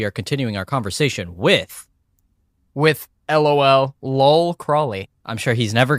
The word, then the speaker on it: Lol: And she goes, "Lol." And I go, "It's pronounced LOL Cwley.